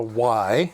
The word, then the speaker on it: wye: But if you go in the literature, oftentimes it's spelt W-Y-E. Okay, so if you see a Y power splitter, it's this. They didn't want to use the letter Y in certain circumstances, so they just spelled it out phonetically.